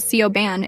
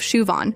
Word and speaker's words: Siobhan: There's Siobhan, who gets called Sioban instead of Shuan.